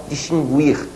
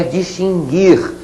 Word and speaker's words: distinguir: esse essa é perigosa que muita gente por aí fala distinguir a pronúncia não é essa tá bom gente a pronúncia é distinguir sem pronunciar a letra U bom já colocamos logo